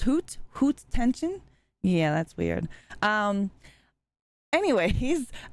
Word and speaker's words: Haute tension: I uh was reading uh several interviews it's pronounced hoot hoot tension yeah that's weird um anyways I have a